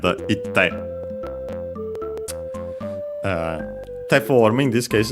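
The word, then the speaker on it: 行って: ku verbs in ku, the i fell, and so ikte, difficult to pronounce, double consonant instead, itte.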